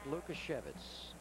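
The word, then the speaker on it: Lukasiewicz: Mark Lukashevitz.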